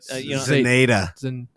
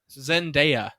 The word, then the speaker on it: Zendaya: Yes, I don't know her name, but Zenaida. What? How do you say it, Marissa? Zenaida. Zendaya.